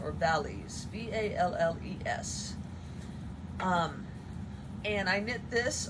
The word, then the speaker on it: Valles: I think it's pronounced Amma, A-M-M-A, and it is a pattern by Maria Valles, or Valles, V-A-L-L-E-S.